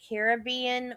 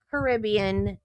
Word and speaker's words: Caribbean: general she's not I know technically it can be pronounced ounced either way, Caribbean or Caribbean. But when you are talking about the Disney franchise, it is Pirates of the Caribbean. I know you can say it either way.